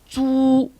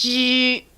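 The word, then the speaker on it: 猪: And I don't have the pronunciation there because it's different between Cantonese and Mandarin. In Mandarin is zhu, but in Cantonese it's ji.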